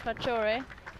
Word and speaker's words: Rathore: And a 4-through cover there from the captain, Gaurav Ratore. Sorry about my pronunciation, probably pretty wrong. Gaurav Singh Rathore. Rator. See, that's how it's pronounced.